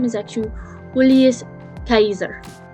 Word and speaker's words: Caesar: knows which well fact in his native language latin the way you would say his name is actually julius kaiser it's not julius caesar it's julius kaiser